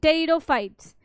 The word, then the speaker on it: pteridophytes: bundle are present in Peridot fight so for the first time vascular bundle was seen in potato fights in pteridophytes p is silent Terror fights now the spermatophyte is